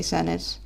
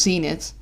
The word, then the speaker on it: Zenith: Don't tell me it's pronounced Zenith. I mean, I suppose it works, it just... I don't know. I suppose that would be the more... Yes, it is. Ah, flip. That would be the more English way to pronounce it. It's just... Yeah. It makes more sense. I guess I pronounced it slightly Dutchish-ish.